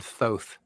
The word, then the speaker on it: Thoth: It's actually pronounced Lord Thoth. Is it Thoth? Thoth.